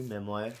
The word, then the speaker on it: memoir: It's a beautiful book, a beautiful autobiography, memoir of sorts. Memoir, that's how it's pronounced.